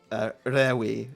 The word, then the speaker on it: rhewi: Okay, so it is kind of pronounced like Rewi, which means freeze in Welsh.